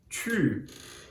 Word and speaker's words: tu: Você faz a boca do U em português, mas pronuncia o I no lugar. U, tu.